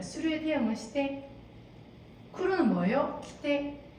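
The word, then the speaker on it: 来て: 키테. 자, 이거 발음 조심해야 되는데 키테가 아니라 키테라고 해서 조금 더 여기를 힘을 주면 으떼로 들릴 수 있기 때문에 이거는 힘을 주시면 안 돼요. 그냥 키테 와서 오고.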